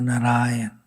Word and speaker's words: Narayana: And Srila Prabhupada says in another place that this name has 4 syllables. Therefore, Narayana. That's why I pronounced it like that.